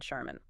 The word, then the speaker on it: Charmin: Whirlpool and the paper products brand Charmin. Two things here. First, the initial ch is not the t sound like in chair. It's pronounced like sh.